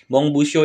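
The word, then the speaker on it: 文部省: cara Ong Yomi yang kedua Mong buo Oke Mong buuso itu sendiri artinya ya Departemen Pendidikan dan budaya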